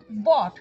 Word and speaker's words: bought: আবার বট, BOUGHT, বা ব্রট, BROUGHT, এগুলো সবেতেই এরকম হয়।